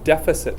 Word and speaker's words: deficit: leftover stuff deficit now this word is a little bit of a funny word deficit is how you say that and this is the